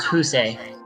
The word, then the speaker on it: Fuse: Her name is actually pronounced Husei.